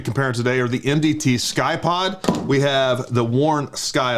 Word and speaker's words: Ckye-Pod: all right so the first one that we're going to cover is the mdt sky pod it's spelled with a c i don't know what